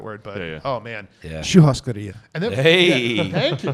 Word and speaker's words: Churrascaria: remember how you pronounce that word, but oh man, Yeah. Churrascaria.